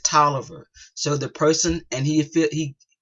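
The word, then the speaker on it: Taliaferro: it is spell t-a-l-i-a-f-e-r-r-o like tyler pharaoh but we do pronounce it toliver so the person and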